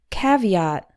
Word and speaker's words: caveat: more information number one caveat this word refers to a warning or caution it actually has three syllables and the stresses on